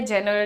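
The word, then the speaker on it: genre: इट ध्यान से सुनिए इट is pronounced as जॉनर John र र रे नहीं र जॉनर हाउ डू you pronounce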